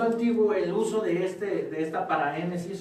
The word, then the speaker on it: paraénesis: en un género llamado paraénesis. Paraénesis, lleva acento en la E, paraénesis, que proviene de la raíz griega exhortar, reprender o amonestar.